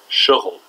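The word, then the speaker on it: شغل: But the important thing is it tells us how to pronounce the noun, shughl, right? Notice that it's a dhamma on top of the sheen.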